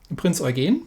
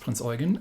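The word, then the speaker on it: Prinz Eugen: caught me um were the prince organ because i really really didn't know that that it was not pronounced prince oregon and obviously i could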